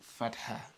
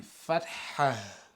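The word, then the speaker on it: فتحة: So as you can see, there is H at the end. But does that mean that we're going to pronounce it as Fatha? No, not Fatha. Because in English, we don't have the heavy, H.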